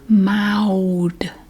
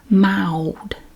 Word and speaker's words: mild: Mild. It's like M-A-O-U-W-D. Mild. You do hear that I sound a lot. Mild. We don't pronounce the L like you might be used to.